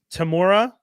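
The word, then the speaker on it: Temuera: Oh man, I always say his name wrong. Tamora.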